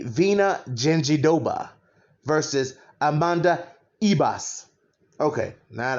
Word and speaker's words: Virna Jandiroba: been saying her and i've been saying verna gingerova which i'm probably going to continue to say but i'm going to say it correctly vena genji doba versus amanda ibas okay